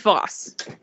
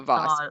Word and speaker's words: Voss: one of these uh the name is Voss okay fabric stop it pause like a boss let's say if you